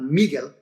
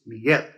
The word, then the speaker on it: Miguel: not a vowel so you stress the last syllable miguel not miguel it's miguel okay and then the second